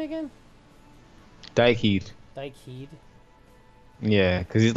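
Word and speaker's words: Dhyck Heed: Dyke Heed.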